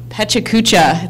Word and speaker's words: pecha kucha: six minutes 20 slides and the event is pronounced pecha kucha such a couch i I'm gonna be there